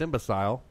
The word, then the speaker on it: imbecile: And the reason it should actually be pronounced imbecile is because of words like file, vile, bile, mile, all spelled with the same last 3 letters.